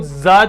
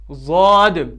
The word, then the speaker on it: ضاد: کچھ لوگ اس کو داد پڑھتے ہیں، کچھ زاد پڑھتے ہیں، کچھ زواد پڑھتے ہیں، کچھ کیا، وہ سب طریقے، وہ سب جو بھی تلفظ ہیں وہ سب غلط ہیں، بلکہ صحیح طریقہ کیا ہے؟ ضاد.